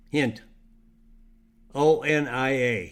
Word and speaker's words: Hintonia: good blood sugar levels intonia that's spelled h-i-n-t hint o-n-i-a hintonia and then strontium and